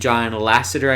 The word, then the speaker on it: John Lasseter: And John Lasseter, I believe is how you say his name, he was kind of stepping aside from Pixar at that time too.